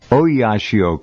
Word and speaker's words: Oyashio: The Kurashio current and the Oyashio current, I think I'm pronouncing those correctly.